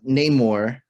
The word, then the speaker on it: Namor: cool I like because pronunciation of Namor the name is Namor oh okay that makes more sense now because Lamar is love in Spanish and I guess no name more okay makes sense but it's